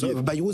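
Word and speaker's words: Bayrou: Vous aviez euh Baou se prononce Bairou ça a été un premier ministre fugasce à peu près à l'époque de Crasus je crois.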